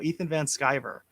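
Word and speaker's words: Ethan Van Sciver: is it shiver or shiver or if i pronounce his last name correctly it's skyver ethan sky scriber there we go ethan van skyver um so and and it correct me if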